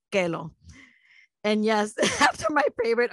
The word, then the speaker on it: Kellogg: My first and only pet was a golden retriever named Kellogg, which we pronounce Kelo.